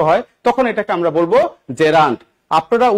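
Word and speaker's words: gerund: এই নাউনের সাথে দেখেন তো আইএনজি ফরম্যাট আছে, তার মানে এটাকে আমরা কি বলবো জেরান্ড। উচ্চারণ কি জেরান্ড, নট জিরান্ড। আপনারা ম্যাক্সিমাম এখানে ভুল করেন, জিরা জিরা বলেন, কোন জিরা টিরা এগুলি দিয়েন না।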